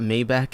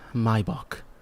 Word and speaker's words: Maybach: It's not Maybach, it's Maybach. Okay, buddy.